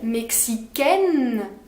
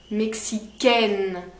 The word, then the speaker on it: mexicaine: entend c'est une consonne c'est une voyelle pardon c'est le sait le son un mexicain ainsi une voyelle un son de voyenne pour les filles mexicaine le dernier qu'on entend c'est une consonne celle annoncée la consonne mexicaine et c'est plus est plus ouvert mexicaine pour les filles mexicain fait plus nasale mexicain pour les garçons voilà marocain pour les